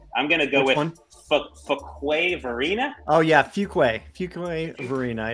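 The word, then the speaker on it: Fuquay-Varina: I'm going to go with Fuquay Varina.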